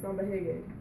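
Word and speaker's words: samba-reggae: And in Brazil, you pronounce R's like H's, so that's why I say samba reggae.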